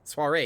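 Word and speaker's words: soirée: Soiree, yes, thank you.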